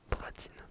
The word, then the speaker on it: Bradyn: Tu vois là, ça s'écrit Bradyn. Et il m'a écrit à côté Bras plus loin Dine.